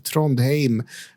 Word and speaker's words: Trondheim: the play festival in Trondheim. Tronheim. Uh, sorry I I went for a Norwegian pronunciation, but anyway, Tron, it's uh it's in Norway.